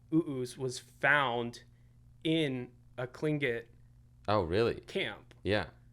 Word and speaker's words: Tlingit: So I was like, okay, what if I took this like, it's Tlingit, I think is how you're supposed to say it. It's spelled T-L-I, but it's kind of like Tlingit.